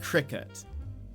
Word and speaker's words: Cricut: doesn't and do you are you guys saying it like cricket cricket cricket that's how I say it Cricket or do you guys pronounce it like Cricut with an UT like cut y' I haven't had